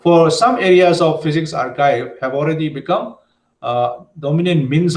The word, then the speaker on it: arXiv: I have found out that these should be pronounced as archive.